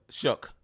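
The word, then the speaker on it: Shough: his name, show Yeah, Shook. I think that's how you say it.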